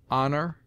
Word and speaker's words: honor: in which it is always sounded with a full breath except in air herb oler honor humble honest humor and their derivatives it sometimes begins middle